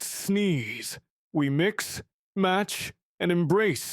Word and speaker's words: CCNS: Call it CCNS for short, pronounced sneeze.